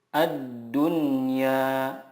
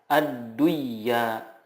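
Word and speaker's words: الدنيا: Contohnya ad-dunya, tidak dibaca ad-duyya, tetapi yang benar adalah ad-dunya.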